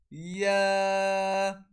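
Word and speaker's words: ي: Jim, Sheen, Ya. So when we pronounce this letter, our middle of the tongue touches the opposite palate.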